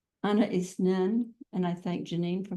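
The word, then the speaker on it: Anaïs Nin: How Anna Isnin, and I thank Janine for my correction on that pronunciation.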